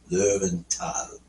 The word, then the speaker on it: Löwenthal: Actually, it's in correct pronunciation, everybody. It's Löwenthal. Means the Valley of the Lions. All right. Tal is valley, and Löwen is plural. Löwen is lions.